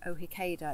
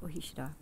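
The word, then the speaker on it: Ó hÍceadha: were pronouncing it wrong, Ohikeda. It looks like Ohikeda, but it's pronounced Ohishida.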